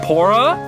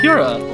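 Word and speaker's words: Purah: sheikah slate from pora pora it's pronounced what is that i thought it was pura my bad your highness what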